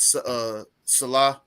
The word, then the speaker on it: Saleh: I keep can't getting pronounce his last Salah. It's Salah.